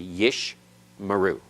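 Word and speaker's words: יִשְׁמְרוּ: middle of the word, the first schwa is silent, the second is vocal, always. And I say always advisedly, remember, because in Hebrew there's always exceptions to rules, including that one. But you would expect it to be yish maru. Yish maru. Okay? The first one is silent. The second one is vocal.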